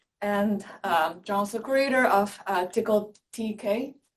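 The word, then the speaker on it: Tcl: And John also co-invented Raft, the consensus protocol, log structure file systems, and John's the creator of Tickle TK, pronounced correctly.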